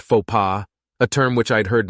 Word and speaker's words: faux pas: Luckily, part of their example of faux was a faux pas, pronounced faux pas, a term which I'd heard many times and